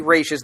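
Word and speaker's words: Ra's al Ghul: I never knew that I believe technically races the correct pronunciation but he'd never wrote it as Raj Raj which would be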